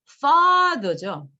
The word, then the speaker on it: father: father 이렇게 돼 있는데 fa는 강세를 받았고 너는 강세를 안 받았어요. 발음대로 읽으면 father 이렇게 해요. 근데 이게 뭐예요? 두 번째는 강세가 아니니까 무조건 뭘로 발음된다? 우리가 보통 얘기하는 슈아라는 발음으로 발음이 돼요.